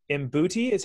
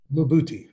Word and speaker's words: Mbuti: You went deep into the rainforest of the Congo and to the enslaved Mbuti. How do you pronounce that? Mbuti, yeah.